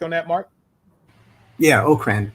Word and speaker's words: Okrand: and by the way, his last name is pronounced Okrand. Am I correct on that, Mark? Yeah, Okrand, right. Right. It's Okrand and not Okrand.